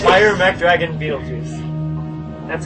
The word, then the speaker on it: Betelgeuse: There's a movie that is pronounced this way, and it's gonna blow your mind.